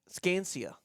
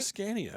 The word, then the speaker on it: Scania: Scansia. The Scansia truck. I think it's a Scania. I think Scania Sa N I A. I think that's the way it's pronounced.